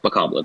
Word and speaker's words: Bokoblin: Bokoblin, that's how you say that thing.